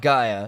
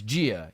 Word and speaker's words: Gaia: like andreas you crackhead it's not gaia it's jia you pronounce things like